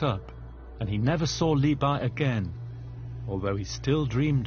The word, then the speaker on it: Li Bai: Li Bo or Li Bai, Li Bo was the old pronunciation, had a character that was very charismatic.